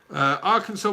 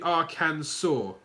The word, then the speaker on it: Arkansas: one since since then the letter S and the end of French words is silent so it should be Arkansas Arkansas I can I can